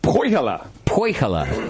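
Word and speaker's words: Põhjala: First one comes through from Dave in Portland, Oregon, about the, how do you pronounce this, JP? Pajala? Poihala.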